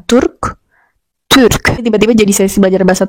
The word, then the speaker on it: Türk: Begitu juga ketika menyebutkan Turk, bukan Turk.